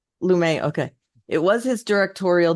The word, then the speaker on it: Lumet: It was his Lumet. Lumet.